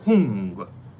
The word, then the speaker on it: Hung: And the way you'd pronounce that is Om, instead of the H-U-M, Hum, you say Hung, okay? H-U-N-G, Hung.